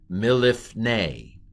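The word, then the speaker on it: מלפני: First vowel under the mem, hirik. Next vowel under the lamed, it's the same word. It's a hirik. And then the shava under the pei closes the syllable, lif. And then what's the final vowel of that word, piggybacking with a yod? Seri yod. Milifne, from before.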